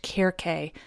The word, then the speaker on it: Circe: Now again, I must remind you that technically her name is pronounced Circe, which is quite beautiful, and I almost wish